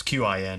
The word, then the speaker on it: Qin: this great emperor of, I think it's pronounced Qin. It's Qin.